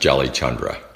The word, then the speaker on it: Jalichandra: Well, my first name is pretty easy, but my last name is pronounced Jalichandra.